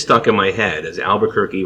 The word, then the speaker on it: Albuquerque: in my head as Albuquerque rhymes with turkey and I just remember